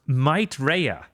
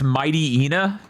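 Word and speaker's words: Mightyena: I gotten the play test for Might Rea, which is spelled the word might then re y a all connected. I'm sorry. That's Mighty Ena.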